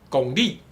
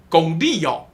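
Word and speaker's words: 公理: TLT says: "fairness" in Taiwanese is pronounced gong-li, gong-li, gong-li Okay.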